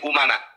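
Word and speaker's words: أمناء: Kemarin menyampaikan begini, Bahar bin Smith, al ulama umana ur-rusul, tapi bacanya al ulama amana ur-rusul. Saya katakan salah. Kenapa? Karena di sini umana.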